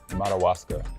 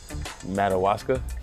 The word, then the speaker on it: Madawaska: in Maine we're gonna see if we can pronounce incorrectly Maine timing oh yeah Madawaska yes good job bought Alaska Madawaska nailed it man Madawaska yeah you got it